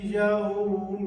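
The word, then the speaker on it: يوم: اپنے مجہول تلفظ میں یوم الدین، یو پڑھتے تھے، یہ یو نہیں ہے، یاؤ، یاؤ، یائی، اس کو اب ہم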